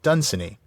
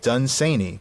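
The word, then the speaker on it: Dunsany: friend where he said the one way that nobody should pronounce my name is the way people do who call it Dunini. I pronounce it Duneni with the accent on the second syllable which is pronounced say the first syllable rhyming with gun which is very ominous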